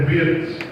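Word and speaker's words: בית: Eu não sou o melhor dos hebreus, mas a pronúncia mais correta é Bet, né?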